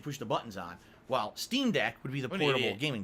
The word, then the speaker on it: Steam Deck: dollars 20 cents and please stop miss pronouncing streamed uh steam deck not stream deck that's a am i am i saying stream deck it's steam deck it's supposed to be steam deck it's a deck on